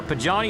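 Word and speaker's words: Pagani: Zonda Pajani, or Pajani Zonda.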